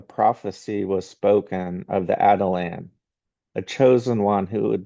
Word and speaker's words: Atalan: again we're called the this is called the Adelan and the spelling is a little tricky at first. Uh, so Adelan is spelled A T A L A N. The Adelan. Uh and and so as